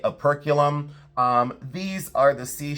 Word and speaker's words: operculum: And then I've often said operculum. Sometimes it is called opercalum. So aerculum or operum, however you would like to pronounce it or where you put your syllable breaks, but aerculum or opera column. I now say a perculum.